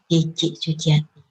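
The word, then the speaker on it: Tjitji Sutiati: jadul dan zaman dulu, jadi tulisannya adalah Cici Sutiati menggunakan ejaan nama TJ. Sedangkan pengucapannya menggunakan huruf J. Jadi tulisannya nanti seperti ini. Jadi sekali lagi jangan salah baca, membacanya adalah Cici Sutiati.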